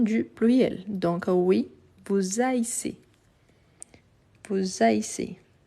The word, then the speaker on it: haïssez: Donc, oui, vous haïssez. Vous haïssez. Ici, le tréma, donc le i doit être bien prononcé.